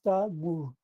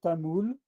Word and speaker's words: Tamil: And a variant is Tamur. You probably know that in French we say Tamul, and that in Portuguese they say Tamul also. And this is probably based on some dialectal pronunciation.